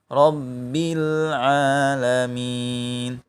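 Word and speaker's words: رَبِّ الْعَالَمِينَ: ditahan rabbil gitu ya Jangan pula di jeda Rom mi A3 juga tapi harus nyambung rabbil alamin ah dan jangan juga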